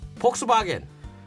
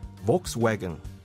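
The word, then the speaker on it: Volkswagen: 아니고요 자구아 도요다 도요다 아니고요 토요다 볼보 보보 폭스바겐 볼크스웨건 크락션 크락션 홍크 아니면 혼이라고 하는데 push or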